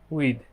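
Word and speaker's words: with: হ্যাঁ, এটাকে হচ্ছে দ ধরবেন, দ, থ না, উইথ।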